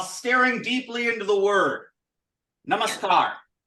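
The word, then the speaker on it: नमस्कार: deeply into the word namaskar namaskar namaskar that's a scar and then a long a and the rum that long a is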